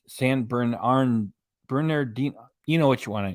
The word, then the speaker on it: San Bernardino: the McDonald's Brothers in San bernardito I've been saying it wrong for years it's San Bernardino you know what you